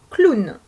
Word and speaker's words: clown: produit le son wagon le dernier mot est un peu compliqué c'est un mot qui n'est pas d'origine française et qui a une prononciation donc un peu différente c'est le mot clown dans ce mot le w est accolé au mot pour produire le son ou nous avons donc trois